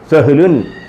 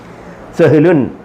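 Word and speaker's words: سهل: വായനാശീലം വേണം സ്പീഡി വായിക്കണം സഹലു സഹലു സഹലു അല്ല സഹല അങ്ങനെ വായിക്കരുത് സഹല സഹല സഹല സഹല സഹല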